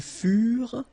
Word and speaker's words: furent: Ils furent, elles furent. Keep in mind that ENT, you know, the ending for the plural form is never pronounced, so furent. Okay, ils furent, elles furent.